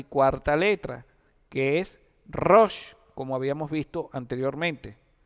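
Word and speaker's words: ראש: La palabra cabeza se dice rosh. Se escribe con la resh, con la alef y con la chin.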